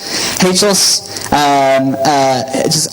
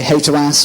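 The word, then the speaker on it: HATEOAS: HATOS, does anyone pronounce it differently? I hear some people say HATOAS, which is potentially rude.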